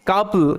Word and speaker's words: couple: উচ্চারণ কি করি সাউন্ড এখানে ও ইউর আউ সাউন্ড দেয় কিন্তু এখানে আ সাউন্ড দিচ্ছে এটাই কিন্তু general general sound oh your এটা ব্যতিক্রমের আন্ডারে পড়ে একটু মনে রাখবে এখানে কাপল কাপল এরকম ভাবে এটার উচ্চারণ